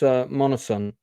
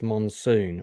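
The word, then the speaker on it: Monoson: And uh this is uh Lawrence Monosan. Um so and I often incorrectly pronounce his name as Lawrence Monsoon.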